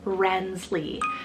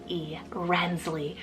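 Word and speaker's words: Renslee: just added actually this morning is the name rensley spelled r-e-n-s-l-e-e rensley I am in love with this spelling guys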